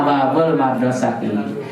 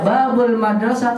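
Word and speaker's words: باب المدرسة: Nah, babul madrasati. Jangan lupa dikasrahkan akhirnya babul apa? Babul madrasati. Kalau antum masih baca babul madrasah itu salah.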